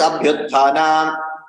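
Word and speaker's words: abhyutthana: Similarly, abhyuthana, the only way I can do it is abhyuthana. There is no break.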